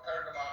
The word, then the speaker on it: Pergamon: Now, Pergamon is the German pronunciation of Pergamon or Pergamos, which is the Greek town that's mentioned in the Bible, yes, where the Satan's seed is, right?